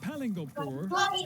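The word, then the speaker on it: Palingoproer: It's pronounced Palingopur, and it's ridiculous.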